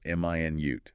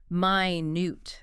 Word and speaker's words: minute: Stress on the first syllable. M i nute. That's the unit of time 60 seconds. Stress on the second syllable minute. That's the adjective meaning very very small tiny.